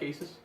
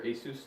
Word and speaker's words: Asus: an LG Asus well I like Asus or Asus depending on how you want to pronounce it Asus is more uh